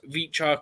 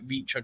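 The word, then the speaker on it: Khvicha: Yeah, I think the first name's Vicha, isn't it? It's like a silent K, and there's like Vicha Kvaratskhelia. Yeah, I think the V is quiet in the second one, but it's something like that.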